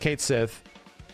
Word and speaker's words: Cait Sith: Square Enix confirms it Kate Sith is pronounced Kate Sith for Final Fantasy 7